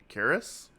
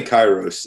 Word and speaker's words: Kairos: It's Karis, I say Kairos. I Kairos. Okay, have. It's. I mean, it's a ancient Greek word, so I mean, it's not like we really know, but I say Kairos.